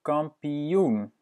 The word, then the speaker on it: kampioen: De kampioen.